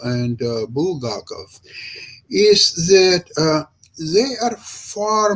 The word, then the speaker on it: Bulgakov: Bulgarov. Yes, Bulgakov.